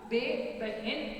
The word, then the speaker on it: बहन: लिखते वक्त बा लिखते हैं मगर इसको उच्चारण करते वक्त क्या बोलते हैं बच्चों? बे बहन, इस तरह उच्चारण करते हैं।